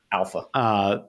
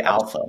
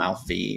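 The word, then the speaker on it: ALPHV: alpha. Yeah, how do you pronounce like alpha? It's technically alpha.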